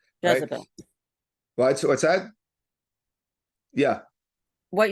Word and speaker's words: Jezebel: name of eel uh Jezebel I think it's pronounced in English right Jezebel what what's that yeah what you said Jezebel Jezebel thank you right Jezebel and um she was